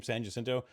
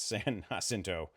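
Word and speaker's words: San Jacinto: or saying the name Sanjasinto like that for like 20 years because the word is actually hinto. It's San Hasinto. It's pronounced like an H, right?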